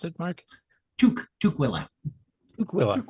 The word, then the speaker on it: Tukwila: Tukwila. Tuk as in what Ken and I were wearing our heads in the snow.